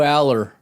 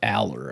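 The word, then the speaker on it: Allar: It's pronounced Aller, I think, but it's spelled We Alar.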